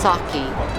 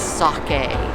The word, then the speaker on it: sake: into a sake and it's not pronounced sake it's sake we had one of